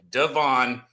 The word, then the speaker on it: Devon: It's Devon, the first name, like de with the apostrophe von. Devon, and then it's achan. Okay, that's how it is. That's how you say it.